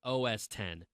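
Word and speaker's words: OS X: operating system for Mac OS 10 or Mac yes I what what was I saying why was I why was I brain farting oh it's not Mac OS 10 it's OS 10 I knew I was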